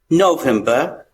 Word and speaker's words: November: Same thing, R is silent here. November.